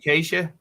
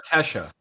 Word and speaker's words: Kesha: yeah Roger Justin Bieber and Keisha they had birthdays it's Acacia or Kesha okay Kesha I said it wrong I'm an idiot did